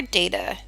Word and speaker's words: data: is a total mystery data or data both are correct pronunciations hmm I'm glad this